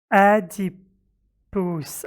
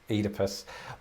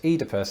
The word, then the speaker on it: Oedipus: one's going to give me a slight complex adi puss i don't know i don't know this word one moment oh my god oedipus but i as you heard there pronounce this oedipus and you pronounce it oedipus what because just